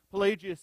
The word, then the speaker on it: Pelagius: by the name of pelagius and let me spell that name for you pelagius is p-e-l-a-g-i-u-s p-e-l-a-g-i-u-s now pelagius as i mentioned